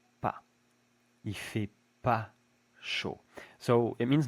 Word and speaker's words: pas: We almost never pronounce the S when it's the last letter of a French word.